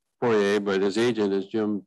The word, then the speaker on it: Poirier: And is Tim Peter, how does he pronounce his name? Poirier, but his agent is Jim, P-I-T-R-E.